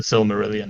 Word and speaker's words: Silmarillion: The Silmarillion.